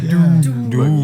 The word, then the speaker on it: Doom Buggy: You have to say it like Doom Buggy.